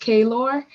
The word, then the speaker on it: Clore: Yes, and correction, it is pronounced Kaylor, but can you all hear me?